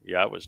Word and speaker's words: Yahweh: It's the Yah and the Ah are from the verb haya, and the O sound comes from Torah.